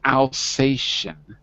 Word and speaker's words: Alsatian: by x blue right when you see ti in an english word it's pronounced like a sh like in the word nation it's tion nation so this is exactly so this is alsatian dogs very good so